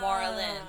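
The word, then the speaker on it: Marlyn: up my name because my middle name is spelled uh like Marlin the fish Marlin yes but in Spanish it's Marlene yeah yeah but in English if you're gonna do Marlene everyone's like l-e-n-e yeah mine is l-y-n so it's Moreland like Marlin like the fish basically so I'm just like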